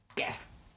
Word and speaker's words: Gef: Jeff.